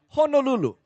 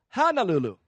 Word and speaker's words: Honolulu: all say h Hulu by the way the proper pronunciation is Honolulu so let's all try Honolulu Honolulu I'm talk yeah yeah